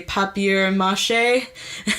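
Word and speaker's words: papier-mâché: out they're made of paper mache, or how they say papier mâché. It's kind of cute how they say it.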